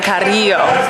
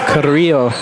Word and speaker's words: Carrillo: the set by Sergio Carrillo. Or how do you say Carrillo? It's the roll of the tongue, Carrillo. Carrillo.